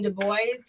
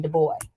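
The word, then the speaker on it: Du Bois: and I've been saying de boy it's actually de Bo yes it's a French name okay so is it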